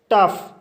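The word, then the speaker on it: tough: कुछ इंग्लिश शब्दों में GH का उच्चारण फा होता है, जैसे टफ। टफ एक इंग्लिश शब्द है और इस शब्द में GH आया है, इसलिए GH का उच्चारण फा होगा, इसलिए इसे टफ पढ़ा जाता है।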